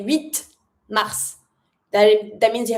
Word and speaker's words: huit: So, it's fine to skip the T so that you have just one consonant to pronounce, which is the first letter of the following word. huit mars.